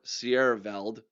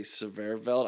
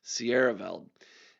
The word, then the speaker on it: Sierraveld: center, then that leaves Austin Sverveld or Sierraveld, as I believe is the proper pronunciation. I always say Sverveld. I put an extra V in there, and I'm not really sure why. Sierraveld.